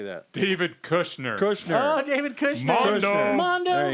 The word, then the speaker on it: Kushner: Co Cockner. How do you say that? David Kushner.